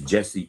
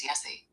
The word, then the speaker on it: Jesse: Jesse is Jesse in English and Spanish. The name Jesse is generally Jesse in Spanish, though it can be pronounced with a Spanish accent, or sometimes as Yessie.